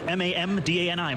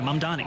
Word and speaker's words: Mamdani: But to see a candidate for this same position be either unable or unwilling to say my name correctly, it's not that difficult. It's Mamdani, Mamdani, and to even name a single mosque that he would have visited over 10 years in leadership.